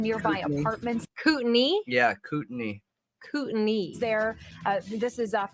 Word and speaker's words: Kootenai: do want to How do add you to pronounce that they the are name? evacuating some nearby Kootenai. apartments Kootenai? Yeah, Kootenai.